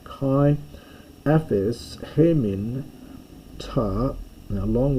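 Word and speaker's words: καί: Kai, this would actually be ke in proper pronunciation, but I'm going to say kai, aphes, hemin, ta, now long word here, fail le mata.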